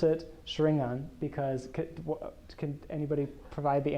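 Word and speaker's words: xaringan: so, I mean, so I pronounce it Shringan because can anybody provide the answer why I pronounce it that way? Yes, Naruto. Yeah, right.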